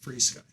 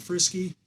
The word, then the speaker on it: FrSky: But so the FrSky, and it's spelled FrSky, but I've checked with them. It is pronounced FrSky. FrSky. Not Frisky, not FrSky, not FrSky. It's FrSky. FrSky. FrSky. I talked to them directly.